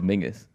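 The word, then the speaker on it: Menzies: from like men's Campbell it pronounced it'd be pronounced frus what men is Mingus yes that's right yeah yeah yeah frus Campbell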